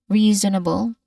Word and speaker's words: reasonable: So the letter S sound here, a letter S um spelling here, it should be pronounced as a buzzing sound.